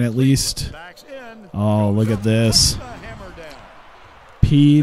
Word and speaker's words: Peay: least look at this P not PA I thought that's how the game pronounced it I think that's why I pronounced it like that Austin Peay it just feels weird because it has like the a y at the end of it so it's like no